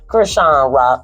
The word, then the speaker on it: Chrisean Rock: Well, Chrisean Rock, how you pronounce her name? Chrisean Rock.